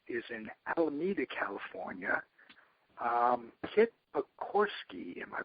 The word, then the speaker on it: Pogorski: Kit Pogorski. Am I pronouncing that correctly, Kit?